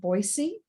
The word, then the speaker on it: Boise: robin makes her home on the outskirts of boise see i know how to say it sharing